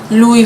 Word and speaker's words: Louis Vuitton: say Louise Richmond but he was actually a hundred percent correct it is Louie Vito but I suppose